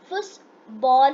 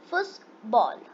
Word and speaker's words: Fußball: Football is Fußball in German.